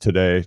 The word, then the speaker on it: Tadej: the way since the stunning Revelation that it's pronounced today not T I don't know about you I've